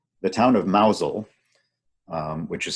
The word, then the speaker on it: Mousehole: the distance on the right the town of Mazal which is spelled mousehole that pronounced nozzle has a very